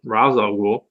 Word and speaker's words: Ra's al Ghul: is Ra's al Ghul I know how to pronounce that one Ra's al Ghul he's watching it all everything going down from